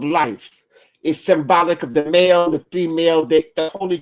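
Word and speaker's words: Maat: And this symbol is pronounced ma and it means the truth.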